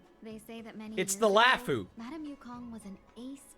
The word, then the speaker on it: Luofu: And if people have trouble saying Luofu, then skill issue. Why don't you go back yourself? Like, I took the time to learn how to say it. Luofu.